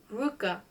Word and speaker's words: Ruka: long Russian surname, had boiled it down to Ruka, with the accent on the last syllable, and this suited him far better than did his Christian name. Uncle Ruka appeared to me in